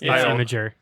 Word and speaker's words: Imgur: Is that how you pronounce it? I've always Imager. said Imgur. It's Imager.